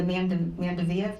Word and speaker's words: Mandevilla: here in the pickets, and then adding the Mandevilla, that's how you pronounce it.